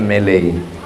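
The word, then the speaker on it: Malay: Melayu itu orang Inggris menyebutnya melei.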